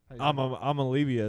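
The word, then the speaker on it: Iamaleava: I'm Olivia is how you say it. I'm Olivia. Olivia. Yeah. Madden Amalivia left Nico Arkansas.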